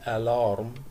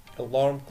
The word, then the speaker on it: alarm: طبعا زي ما انتم ملاحظين في البداية خالص مش بقول alarm الإيه ظاهرة، لا ده همزة خفيفة كده alarm clock.